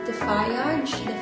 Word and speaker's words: Dfyage: from a beer package and here's one from defyage i don't know but here's their letter here's